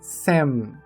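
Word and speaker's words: 千: A sua leitura principal é sem. Sem. Cuidado para não confundir com a pronúncia do número 100 em português, o que é um falso cognato.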